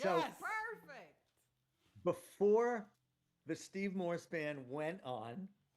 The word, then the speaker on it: Morse: Moss, M-O-S-E, Morse.